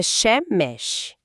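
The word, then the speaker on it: שמש: A pronúncia é shemesh.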